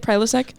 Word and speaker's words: Prilosec: I feel like a Prilosec that's how you say it, Prilosec.